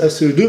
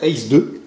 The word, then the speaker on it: ACE2: Alors souvent à la télé ils disent ACE2, mais en fait il faudrait le prononcer à l'anglaise, ACE2.